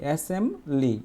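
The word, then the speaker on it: assembly: কিন্তু উচ্চারণ করার সময় তোমাকে এই বিটা উচ্চারণ করা যাবে না। কারণ কি? কারণ হচ্ছে এম আর বি যদি একসাথে থাকে তাহলে বি এর উচ্চারণ হয় না। এজন্য আমরা বলি এসেমবলি। এসেমলি কখনো বি উচ্চারণ করবা না।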